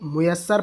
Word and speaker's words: میسر: کافی میسر آ جائے۔ اس لفظ کو میسر پڑھنا ہے، میم کے پیش کے ساتھ اس لفظ کا تلفظ صحیح کر لینا چاہیے، دھیان رہے گا۔ انشاءاللہ